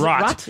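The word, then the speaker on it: Roht: Is it Rot? It's Rot. R-O-H-T. That's a silent H.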